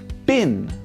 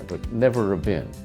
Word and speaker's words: been: Been like the seed of a plant that we eat bean. So I've been running some tests on myself or bin like the container you put your rubbish in.